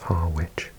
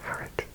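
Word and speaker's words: Harwich: and so I always used to call it har witch but yeah it's it's actually pronounced harage we're in France here and we can see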